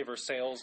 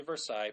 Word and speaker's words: Versailles: it's kind of like how people say Versailles it's supposed to be Versailles people say Russia well